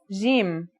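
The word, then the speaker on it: جيم: Our first letter is Jim. This one is easy to pronounce. It's somewhere between a G and a J, depending on the accent.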